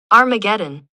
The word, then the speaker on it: Armageddon: Armageddon, you say? Or Armageddon? Armageddon. I think uh in English in proper English pronunciation not in Mishk English but in proper English. Armageddon. Armageddon. Armageddon. We say armageddon.